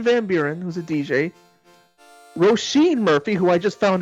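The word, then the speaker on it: Róisín: 3 artists: Armin van Buuren, who's a DJ, Roisin Murphy, who I just found out that's how you pronounce her name, and finally David Guetta.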